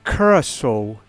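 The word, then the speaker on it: Curaçao: versus us yeah david it's pronounced uh curacao and uh so that's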